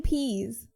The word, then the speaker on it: Pease: Dean Pease as defensive coordinator. Like, he pees. He urinates, yes.